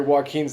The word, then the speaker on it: Joachim: hey joaquin's like uh sorry joaquin's the way that this name is pronounced here in texas uh joachim is uh was pointing